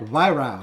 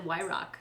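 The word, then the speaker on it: Weihrauch: YROW. Oh, shit. You did much better. I think last time I said YROC. YROW. YROW. YROW. That's how they say it in Germany.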